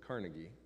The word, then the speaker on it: Carnegie: the name Andrew Carnegie yes Americans pronounce it Carnegie Andrew Carnegie now I don't want